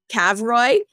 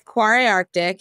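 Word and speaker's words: Kvarøy Arctic: quar Arctic quar Arctic it's spelled funny because it's an Arctic uh brand but it's KV r y uh so initially I was calling it uh cavoy and they were like no it's not how you say it uh but it's quar Arctic and they sell to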